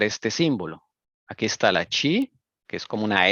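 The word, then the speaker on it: χ: Este símbolo en griego se pronuncia chi y este símbolo en griego se pronuncia ro.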